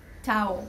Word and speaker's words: Tao: You said it's a place and it sounds like town. Yeah, Tao, town. It rhymes. Yeah, exactly.